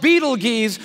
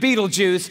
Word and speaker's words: Betelgeuse: It's called Betelgeuse or Betelgeuse. You can pick your pronunciation. I'm obviously going with Betelgeuse.